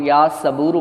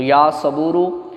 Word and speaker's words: یا صبور: اس کو دیکھ کے آپ پڑھیے گا سواد کے ساتھ۔ بعض لوگ یا صبورو پڑھتے ہیں، سین کے ساتھ تلفظ غلط ہوتا ہے، تو اگر حرف چینج